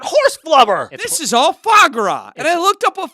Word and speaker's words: foie gras: This is all foie gras. And I looked up what foie gras was. How did you spell it?